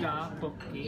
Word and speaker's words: 떡볶이: It's like duck is rice cake, and then so you can say duck and 볶이 like separately. 떡볶이. Yeah, 떡볶이. 떡볶이. Yeah, 떡. 떡. Uh-huh. 볶이. 볶이. Yeah, right. 떡볶이.